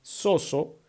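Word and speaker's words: σῴζω: salvar viene de un vocablo griego que se pronuncia soso que significa salvar es decir liberar o proteger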